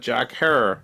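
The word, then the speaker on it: Jack Herer: So like in your episode, you're talking about Jack Harrer, Rhymes with Terror.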